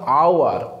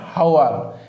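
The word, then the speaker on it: hour: देखिए ये यहाँ पर ये प्रोनाउंसिएशन क्या होगा, ये होगा आवर, आवर, नॉट हावर, ये साइलेंट रहेगा, इसीलिए आ स्पेलिंग आया है तो आएगा आपका भावेल।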